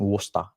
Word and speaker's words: Worcester: O sea, ellos se escriben normalmente Worcester, pero tú sabes el suashismo Worcester. que tienen los británicos con el idioma, entonces ellos le dicen Worcester, ¿no?